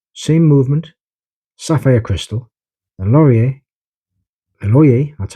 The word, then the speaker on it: LORIER: The LORIER, that's how it's pronounced, acrylic crystal.